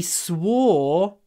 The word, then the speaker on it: swore: also means on he swore to protect me because it's an irregular verb swear swore swore because it includes where war war if you think about it where war war and